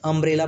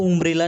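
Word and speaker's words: umbrella: यहाँ पर देखिए अम्ब्रेला, अम्ब्रेला में देखिए यू का उच्चारण अ हो रहा है, अम्ब्रेला पढ़ते हैं, इसको उम्ब्रेला नहीं पढ़ते, अम्ब्रेला हो रहा है यू का उच्चारण अ की तरह।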